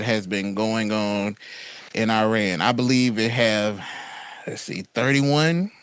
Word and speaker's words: Iran: As a TikToker says, you Americans say Iran, it's Iran.